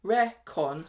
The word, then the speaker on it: reckon: For some reason, reckon is pronounced recon. I knew it. Rather than the usual reckon.